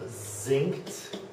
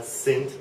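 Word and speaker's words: singt: Okay, so a sample on that one, one that sounds like a Z at the beginning of a syllable, think of zinked, zinked, S-I-N-G-T, zinked, not synced, but zinked, okay, and sounding like an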